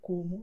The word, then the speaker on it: como: And that the letter O at the end of the word will be pronounced as U, like in obrigado, como, logo.